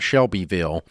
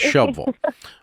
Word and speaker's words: Shelbyville: It's not Shelbyville unless you're unless you're a Yankee. It's Shville.